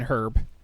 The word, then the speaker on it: herb: And yes, I know that I don't pronounce the H in herb.